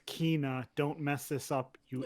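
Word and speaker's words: Kena: It's pronounced Kina. Don't mess this up, you idiot. And we all messed it up already, so you're it's covered. not Kana?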